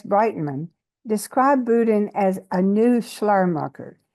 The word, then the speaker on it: Boodin: a specialist on one particular person John elaf buen is that how you pronounce it Michael Yes buen yes good um and he is the figure